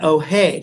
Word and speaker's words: Hoay: It's spelled H-O-A-Y. H-O-A-Y. Not to be confused with All Hands Ahoy, but Ohay.